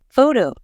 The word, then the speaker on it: photo: For example, in the word photo, we stress the first part, but in photographer, we stress the second part.